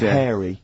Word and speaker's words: hairy: Sorry, I noticed both of you there dropped the H, or the H, or however it's pronounced. I had to. So airy kids, hairy. Yeah. Hairy children, not sort of airy, kind of light-headed or...